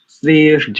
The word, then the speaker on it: श्रेष्ठ: श्रेष्ठ, यानी एक ठसक आनी चाहिए, एकदम से बहुत गाढ़ा दबाव आता है जब हम ऐसे अक्षरों का उच्चारण करते हैं, महाप्राण वाले अक्षरों का। जैसे देखो मैं बोलूं श्रेष्ठ, तो ठा बोलते ठसक सी आती है कंठ से हृदय प्रदेश तक।